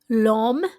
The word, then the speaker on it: l'homme: L'homme aime les pommes violettes. L'homme means the man. The H is silent.